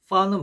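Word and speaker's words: فاء: 그래서 파 경우에는 파는 발음이 영어 F하고 발음이 같아요. 그래서 입술 소리죠. 입술 소리. 파 이런 식으로 소리가 납니다.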